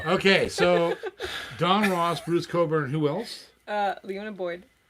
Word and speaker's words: Cockburn: i know don ross knows i know bruce coburn bruce cockburn that's how it's spelled you are out of control and uh